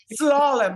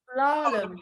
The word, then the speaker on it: Slalom: Slalom, like the skis. Oh, Slalom.